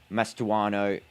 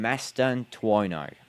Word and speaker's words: Mastantuono: And now that is Mastuano. How do I say his name? Mastantuono.